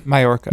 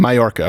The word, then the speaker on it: Mallorca: How do you pronounce this here, Lane? Mallorca. Mallorca.